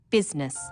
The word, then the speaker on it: business: the awkward ough words business people don't pronounce the i business sometimes misspellings occur because